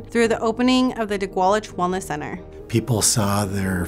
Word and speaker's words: didgʷálič: proper pronunciation of the center's name, which is pronounced didgʷálič.